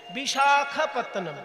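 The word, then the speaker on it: Visakhapatnam: বিশাখা, বিশাখা নয়, ক্ষয়ে আকার হবে না, শুধু খ। এবার যেহেতু সাউথ ইন্ডিয়া উচ্চারণ তো সেজন্য একটু অকারটা আকারের মতন শোনায় আর কি। বিশাখাপত্তনম, কথাটা হচ্ছে বিশাখ, বিশাখা নয়।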